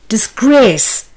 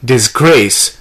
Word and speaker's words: disgrace: the word is disgrace the noun form is disgrace stress being on g-r-a-c-e the word form is disgrace the stress is on g-r-a-c-e track t-16 refer to workbook 2c lesson 2 part 1.